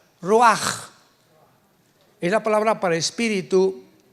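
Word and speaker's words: רוח: Pero la ch en el hebreo se pronuncia como j. Roaj es la palabra para espíritu en hebreo.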